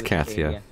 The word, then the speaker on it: Katia: I still don't know how to pronounce it correctly. Pretty sure it's Katia.